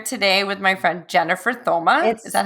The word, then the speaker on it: Thoma: Super excited to be here today with my friend Jennifer Thoma. Is that how you say your last name? Thoma. The H is silent.